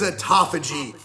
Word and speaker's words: autophagy: What is autophagy? Okay, so not to be that guy at the party, but it's actually pronounced autophagy.